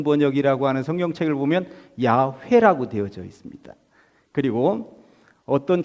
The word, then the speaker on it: 야훼: 붙이고 여기다 입자를 붙였어요 발음해 보면 야훼 이렇게 돼 야외 그래서 우리 k2